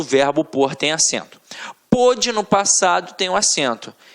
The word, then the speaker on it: pôde: Um dia ele pôde, hoje não pode mais. Reparem que a pronúncia é até diferente, né, cara?